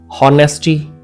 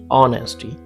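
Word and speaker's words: honesty: rule है कि H beginning है ओ साइलेंट है कुछ वर्ड्स बट एक्सेप्शन जरूर है ये हॉनर नहीं है इट्स ऑनर होनेस्टी नहीं इट्स ऑनेस्टी hour no इट्स आर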